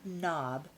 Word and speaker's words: knob: pair of windshield wipers the word knob begins with the silent letter K let's find a